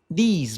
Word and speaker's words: these: These boys and girls. Teach these boys and girls. Esse th é aquele sonzinho da língua entre os dentes.